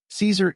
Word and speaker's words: Caesar: "Caesar equals Kaiser," Tietjens said.